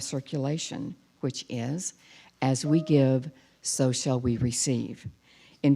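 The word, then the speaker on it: Gyve: called give it's spelled G Y ve but pronounced give over the next month we'll be moving to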